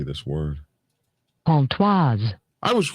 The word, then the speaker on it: Pontoise: Pontoise. I was right. Don't you dare tell me I don't know my little bit of French. Yeah. Pontoise.